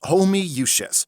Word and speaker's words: Homoiousios: It's pronounced Homoiousios. How? There's 20 O's! It's Latin.